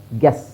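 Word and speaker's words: guess: guilt ಗ ಇಲ್ಟ್ guilt next ಇಲ್ಲಿ you silent ಆಗುತ್ತೆ ಎಸ್ ಗೆಸ್ ಗ ಎಸ್ ಗೆಸ್ ಹಾಗೆ ಇಲ್ಲಿ ನೋಡಿ ಇವೆರಡು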